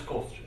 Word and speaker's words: Kostya: I'm Mike Hankins here in the studio, and we're coming to you live with Kostya. Am I pronouncing it right? It is Kostya.